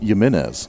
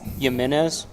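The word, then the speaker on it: Jiménez: And that is pronounced Yimenez. Yimenez.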